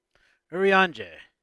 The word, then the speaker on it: Urianger: Urianger.